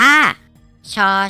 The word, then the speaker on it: ช: มอง เห็น อยู่ นี่ อ่าน ออก เสียง ว่า ชอ ช้าง น้อง ๆ ฝึก ออก เสียง ตาม ที่ มะตูม นะ ครับ ช่อ ช้าง ช ช้าง หมอ ช้าง พี่ นาง หนาว